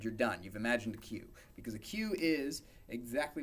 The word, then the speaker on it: queue: next data structure the cues about qu eue and pronounced well just the first letter so the cue is